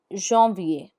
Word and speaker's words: janvier: For example, January is janvier, which is written as janvier. Janvier. You can pick up the pace once you've learnt the pronunciation of this word properly.